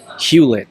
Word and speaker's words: Hewlett: your last name yes yep just like Hewlett-Packard that's what I thought and you said a lot of people get my name wrong I thought how it's Hewlett Hewlett-Packard yeah you get you get Hewitt or you know all kinds of variations and spellings and